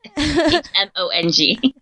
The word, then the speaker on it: Hmong: told me about it, because I just thought you would pronounce the H. Yeah. But now I know it's silent.